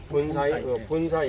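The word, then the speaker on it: 盆栽: 이것을 분재라고 얘기를 하는데 이 분사이 이렇게 발음 일본어로 본사이 이렇게 발음하는데 이 그 본사이를 하는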